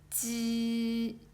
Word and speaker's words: 鸡: And this one 鸡. Okay, so tongue touches the area behind the upper teeth and removes the block quickly with a weak breath.